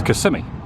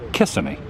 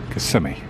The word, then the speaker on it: Kissimmee: flag at the top now the way you pronounce this area is Kissimmee now you can always tell when someone just recently moved here or they're a tourist and they say Kissimmee but the locals call it Kissimmee and I mispronounced things all the time when